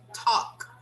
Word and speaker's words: talk: We simply say talk. I want to talk to you. I need to talk to you. So the L is silent because it comes before the consonant.